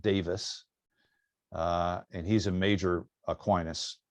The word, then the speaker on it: Davies: I studied Aquinas with Brian Davis, and we would look at his name and we would think it's Davies, but he's Welsh. They pronounce it Davis, and he's a major Aquinas scholar.